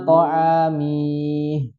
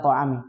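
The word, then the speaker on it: طعامه: Nah, mihnya itu pendek. Jadi tidak dibaca ila ta'amih. Ya, pendek. Ila ta'amih. Kalau panjang harus ada huruf matnya.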